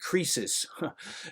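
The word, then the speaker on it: κρίσις: comes from the Greek krisis. If you just change the C to a K and pronounce it a little bit a different way, it's the same exact word.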